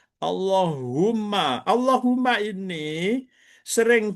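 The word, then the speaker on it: اللهم: Yanya dibuang humanya itu menjadi ditasdidkan Allahu umma. Umma. Allahumma menjadi begitu. Allahumma.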